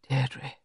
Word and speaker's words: Deirdre: her name like that with a faint stress on the first syllable that made of it a caress she turned and stared